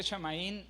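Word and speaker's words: שמים: Es bien importante, hermanos, para que usted aprenda que en el hebreo, note en la derivación, después de que dice que se pronuncia shamaín, dice la derivación que es ¿qué?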